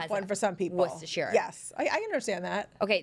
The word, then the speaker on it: Worcestershire: like obviously the way it's spelled, it looks like Worcestershire, Yup. but Worcestershire. It's Worcestershire.